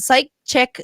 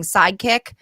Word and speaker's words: Psy-Chick: Psy-Chick Soul Connections. I want to make sure I say it right, because I keep saying sidekick. I'll take one of those.